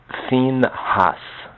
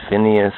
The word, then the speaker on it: Phinehas: emperor's Bible in the we call this finus some say Phineas some say Pinas some even prounce his